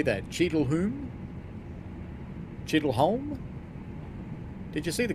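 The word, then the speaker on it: Cheadle Hulme: Cheadleholm?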